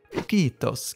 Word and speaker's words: Quito: Om du vill ha med uttalet också, så kan du tänka dig att det är någon från Finland som blir besprutad och säger tack, tack, nu räcker det, fast på finska. Kitos, kitos. Kito, alltså.